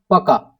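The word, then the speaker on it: пока: So that is in Russian, sorry, is paka.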